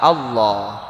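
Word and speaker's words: الله: yang menentukan harkat sebelumnya berarti kalau harkat sebelumnya fathah atau dhomah maka lam lava jalalah dibaca tebal Allah kalau sebelumnya harkat kasrah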